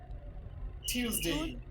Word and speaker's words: Tuesday: উচ্চারণটা কি হবে? Tuesday.